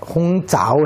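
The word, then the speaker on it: 红枣: 대추는 그게 중국에서 대추를 얘기하는 것이 이제 발음이 대추가 홍자오 해가지고 대추 조자를 자우로 발음하는데 그 조자하고 빠를 조자하고 통해요.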